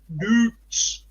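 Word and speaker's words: Doets: Doots. Like Joe Root.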